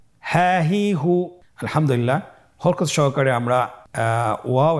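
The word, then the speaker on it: ه: হা হরফটি হরকত দিয়ে কিভাবে উচ্চারণ করতে হয় স্ক্রিনের দিকে লক্ষ্য করুন এবং আমার সাথে বানান করে উচ্চারণ করুন। হা জবর হা, হা জের হি, হা হি, হা পেশ হু, হা হি হু, হা হি হু।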